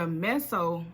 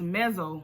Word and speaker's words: meso: Then you have the meso social work level, and that's MESSO, or sometimes it's pronounced mezzo level. So that's MEZZO. And that's when social workers